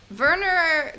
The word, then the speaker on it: Werner: Werner Gluck, the young guard. Okay, so I know enough German to know that W is a V, but I don't know how to say the last name Gluck.